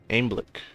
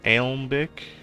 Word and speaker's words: Alembic: Aimblick. Or Alembic? How do you say this? Alembic?